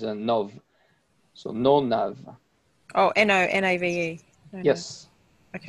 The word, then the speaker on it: nonave: Oh, N-O-N-A-V-E. Yes. Okay. It's not octave, it's nonave. Or nonave. Okay, do you understand?